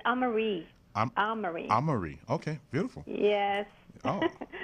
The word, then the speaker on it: Amarie: And how do I pronounce your last name? It's AMARIE.